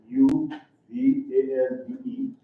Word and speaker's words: Uvalde: U-V-A-L-D-E. And here's how they pronounce it, Uvalde.